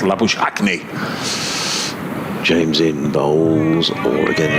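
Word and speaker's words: Labuschagne: australian but it's very common there and it's pronounced la bush acne james in bowls or again that's that one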